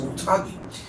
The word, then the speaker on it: Otogi: of their library from that era, which was Otogi. And Otogi, really is the way you pronounce it.